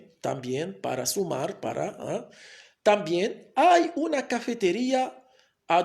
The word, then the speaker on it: cafetería: a palabras con acento, por ejemplo la palabra cafetería, la palabra cafetería, la última sílaba es la sílaba más fuerte, lleva tilde, la tilde o bien el acento se coloca aquí sobre la i, una cafetería a 2